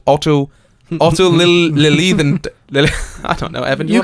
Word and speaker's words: Lilienthal: The Wright brothers were closely following the research of a German flight man called Otto Lilienthal. I don't know, Evan. You can pronounce this. I can't. Lilienthal.